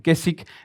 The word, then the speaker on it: Keswick: Y Keswick, aunque se escribe con una W, se lee y se parece Keswick, se dice Keswick, viene de una zona de Inglaterra donde unas iglesias empezaron a enseñar.